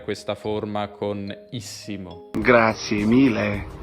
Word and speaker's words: mille: forma con issimo grazie 1000 1000 1000 con la elle lunga stiamo arrivando prometto ti